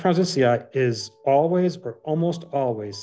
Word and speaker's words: prausnitzii: how do you actually pronounce it? F. privati? What is it? Prausnitzii. Prausnitzii, yeah.